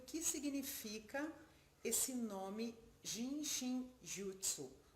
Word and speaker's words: Jin Shin Jyutsu: que significa esse nome jin shin jyutsu ou genjitsu tanto fácil como a gente pronuncia é um nome um pouco difícil de pronunciar é genjitsu significa a